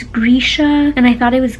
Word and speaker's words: Grisha: This whole time, like I said, I thought it was Grisha, it's Grisha, and I thought it was Genya, but it's Genya.